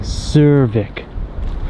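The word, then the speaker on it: Súðavík: You don't pronounce the D. Oh, It's yeah. like Cervik.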